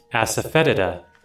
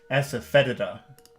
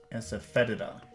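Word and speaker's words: asafoetida: saying it correctly wait let me check the pronunciation I probably am not saying it correctly let's see asaeda asaeda aseta roses and electric shocks the Khaki of deltas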